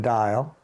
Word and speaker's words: Dyal: for us my full name is dial do I need to spell it